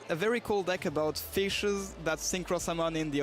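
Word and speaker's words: ghoti: pronounced f the o in women is pronounced e and the ti in nation is pronounced sh then goi is just pronounced fish and that is absolutely incredible.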